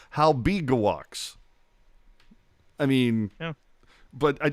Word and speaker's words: Halbegewachs: And then what's really jacked up is that the NHL pronunciation guide says Halbegewachs.